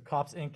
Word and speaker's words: COPS Inc.: So COPS Inc. is the preferable pronunciation.